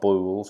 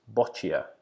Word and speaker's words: boccia: It's a massive wheelchair sport, and it's not bowls or bulls or balls. It's boccia. Boccia.